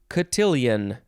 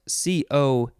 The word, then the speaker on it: cotillion: i said that already next word is katillion you can spell it c-o-t-i-l-l-i-o-n or you can uh take out that last i so catillion there's so many ways cotillion cotillion this is a noun from